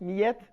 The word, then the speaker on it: Karine Millette: Est-ce que j'ai bien prononcé Millette ou Millette? Millette?